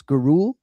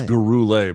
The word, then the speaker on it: Gurule: Uh Jed, which fighter's name is LT most likely to overpronounce? Rodrigo Vera Luis Guru or Orici? It's Gurule by the way.